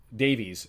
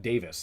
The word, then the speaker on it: Davies: Karen um and and Davies who I keep the last one I kept pronouncing it Davis the influence of watching a Welsh Squad is Jonathan Davies turned into Jonathan Davis and I've that's on